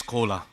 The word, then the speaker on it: Kola: Just on the stage another collaboration is coming because my name is Kola everybody can understand this is exactly same pronunciation of Coca-Cola.